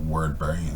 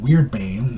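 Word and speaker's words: Wyrdbane: I mean, not Wordbane. Sorry, I know I call it Word, but it's actually pronounced Weird, and it sounds like Alright, Weirdbane is a rune sword,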